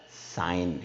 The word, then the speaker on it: sign: G will be a silent word. कब G silent word बन जाएगा? When the N word comes after the G. G के बाद जब N लिखते हैं, G के बाद जब हम N लिखते हैं, G के बाद जब हम N लिखते हैं, तो साइलेंट बन जाता है word G. Okay? Like it is not a sign, it's a sign.